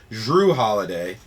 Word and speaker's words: Jrue Holiday: Let me pronounce it better. Jrue Holiday, because it is a J.